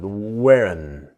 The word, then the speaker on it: weren't: not is Wen but of course the t is silent now this is the n Sound the strong and wearen so we wearen wearen